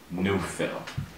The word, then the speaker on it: Neufville: The talented Platinum Award singer, Miss Renee Neufville. Thank you. Okay, did I get the pronunciation correct?